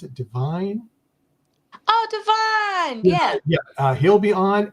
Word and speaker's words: Divine: We have, is it pronounced, does he pronounce it Divine? Oh, Divine.